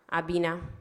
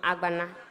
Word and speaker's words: Agbana: in the person of Honorable Abina. So sorry, the name is actually Honorable Agbana.